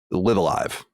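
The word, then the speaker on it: Live A Live: I've heard Live Alive, I've heard Live Alive, I've heard every permutation. I'm going to tell you how I know how to say it. Schneider. It's he said he lived in Japan, he speaks Japanese. Live Alive is how it's said. Okay. Now I can see people being confused, because for people that don't know, it's LIVE space A space LIVE. So that could be live alive, like it's fucking nonsense.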